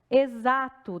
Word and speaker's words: exato: Exato tem um som de Z.